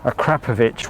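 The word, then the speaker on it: Akrapovič: conjunction with technical partner akrapovic which i am reliably told by henry catchable is the way you pronounce that so blame him if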